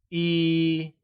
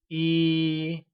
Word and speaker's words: 一: 1 translates to 一 and is pronounced with a high level tone. Can you say 一?